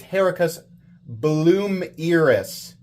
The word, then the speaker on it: Herucus Blomerus: Oh, he says the pronunciation for Hericus it's Hericus Bloomeris. Hericus Bloomeris, if I am saying that correctly.